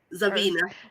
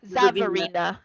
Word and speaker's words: Zavarina: And I will focus in on, would you say her name was Zarina? Zavina. Zavarina. I think it's what I said. Zavarina. Okay. Zavarina. Focus in on her specifically.